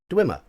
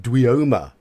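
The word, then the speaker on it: dweomer: knew that it was dwimmer how many of us said duyoma I'm guaranteeing most of you would have said dueyoma because we wouldn't have heard that word until we play D but it's twima so um let's have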